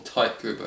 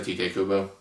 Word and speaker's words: Tite Kubo: I'll say Tite Kubo. Okay, see, I think Tite because I think. With the Japanese pronunciation, I think the I is the E and the E is the A.